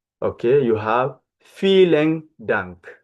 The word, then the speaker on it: vielen: Okay, you have vielen Dank. Vielen Dank. Remember, I told you V is F in Dutch.